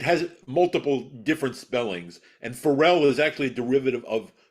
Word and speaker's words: Farel: It is Farel. It's not Farrell. Farrell usually has either two R's or two L's, or pardon me, sometimes two L's, but it has multiple different spellings. And Farel is actually a derivative